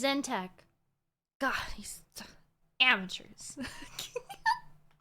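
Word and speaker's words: Tzeentch: Or what about the often overlooked fact that Zech inspires people to read books and seek knowledge to better themselves? He said his name wrong. His name is Zentech.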